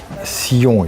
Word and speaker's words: Zion: Sion, it's actually the Zion French or pronunciation.